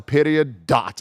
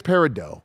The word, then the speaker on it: Peridot: It ain't Peridot, everybody. It's Peridot. It's Peridot, okay? Wow. Thanks, Kebabs, for correcting us. Wow. Peridot. I'm sorry. Who would have thought after all of this? I mean, usually when it comes to pronunciations, like I'm able to nail the phonetic shit sometimes, but goddamn, yeah, I was off. I was way off. It's exactly like it looks, everybody.